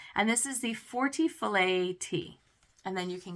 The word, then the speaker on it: filet: wetted filet crochet cresendo filet wrap now I'm saying filet somebody might be out there going it's called fillet in my world filet is a French word and you don't pronounce the T so if I'm wrong